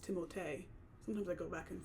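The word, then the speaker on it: Timothée: Adrien Brody the brutalist Timothy shalam a complete unknown which apparently his name is supposed to be pronounced timote sometimes I go back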